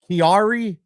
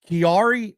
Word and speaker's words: Chiari: I had to look up the pronunciation cuz I wasn't sure. It's called Kiari Malfformation. Kiari Malfformation.